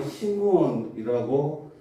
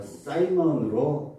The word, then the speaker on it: 시몬: 구약에서는 히브리 발음으로 시므온이라고 하고 영미권에서는 오늘날 사이먼으로 발음이 됩니다.